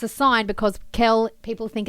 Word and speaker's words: Kel: And everybody often thinks Kel is Carl. And when you look at the footy tips, it says Carl versus Melb. So, it's a sign because Kel, people think it's Carl,